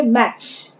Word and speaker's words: match: Then मैच, MATCH, यहाँ पर T silent है, मैटेच नहीं पढ़ेंगे, हम इसे पढ़ेंगे मैच।